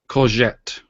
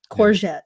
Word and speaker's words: courgette: Courgette. Or Let's courgette. courgette. That doesn't even work. Courgette. Mike, You can say it with the R. Courgette. If you courgette. Courgette.